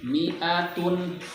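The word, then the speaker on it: مائة: Kemudian di halaman 6 mi'atun hati-hati ininya dibaca pendek. Ini seringkali disebut. Jadi bacanya sabiruna yaghlibu mi'atain. Nah ini yang keliru. Seharusnya yaghlibu mi'atain. Mi'atun hati-hati mi'nya dibaca pendek.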